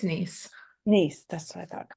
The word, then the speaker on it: Nies: I just want to make sure that I pronounce it correctly. It's Nies.